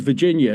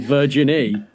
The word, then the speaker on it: Virginie: Or who he refers to as Virginia, because he can't say her name, Virginie.